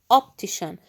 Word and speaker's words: optician: Where is the sh sound? It's not the TI, it's the CI. Opti, we pronounce the T. Notice that we pronounce the T. لاحظتم؟ لفظنا TI, T. But the sh comes from the CI.